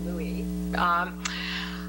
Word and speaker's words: Louis: Turning to the topic of Vicky's presentation about Louis Marshall and Louis Brandeis, I understand he preferred it to be pronounced Louis.